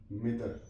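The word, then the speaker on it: middle: मदी, मदी, मडी नहीं पढ़ेंगे हम, MUDDY मदी, MIDDLY मिदल, मिदल।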